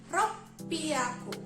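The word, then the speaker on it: 六百: Jadi ropiaku, double P ya, ropiaku, kayak gitu.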